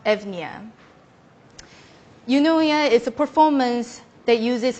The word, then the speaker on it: Eunoia: a Greek word meaning beautiful thinking it is pronounced evnia is a performance that uses my brain waves